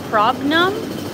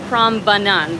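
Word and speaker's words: Prambanan: joke jakarta for yes from banan there we go that was an extra syllable i knew i was missing something uh so yeah lots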